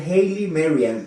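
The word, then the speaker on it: Haile Mariam: sé cómo de verdad yo sé que se pronuncia Haley Marian pero este los eruditos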